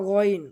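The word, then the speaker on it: غين: এরপর আমরা গইন, গইন যেভাবে উচ্চারণ করব গইন, গইন হলো হলকের শেষ ভাগ হইতে গইন, গইন।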